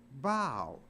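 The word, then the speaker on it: bough: you g h but it's not pronounced buff it's pronounced bow so even though a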